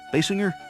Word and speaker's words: Basinger: Basinger.